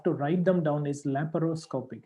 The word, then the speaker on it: laparoscopic: The next one is laparoscopic. The way we pronounce sounds like it doesn't have any A after P or before R. But the way we have to write them down is laparoscopic.